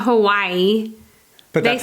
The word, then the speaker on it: Hawaii: Hawaii. I don't know how they say I it. call it Hawaii, but I don't think that's how you're supposed to say it. It's not Hawaii. It's not Hawaii.